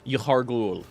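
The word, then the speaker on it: Yahar'gul: So, is the village you didn't want to pronounce not just called Innsmouth? Yahar Ghul? Yahar Ghul, yes.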